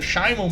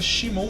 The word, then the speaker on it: Shimon: É curioso que é Shimon Muran, na verdade acho que a pronúncia é Shimon Muran, na verdade, né?